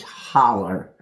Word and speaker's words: Hollow: But it's spelled h o l l o w cuz that's the way they say it is holler.